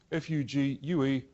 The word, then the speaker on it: Fugue: F-U-G-U-E, pronounce Fugue.